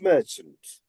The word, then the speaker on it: merchant: Sorry this first vowel sound becomes m mer and the syabic stress is merchant.